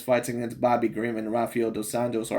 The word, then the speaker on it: Rafael dos Anjos: But like I said, when I seen his fights against Bobby Green and Rafael dos Anjos, or Rafael dos Anjos, of course, because he's Brazilian, pronounced that way.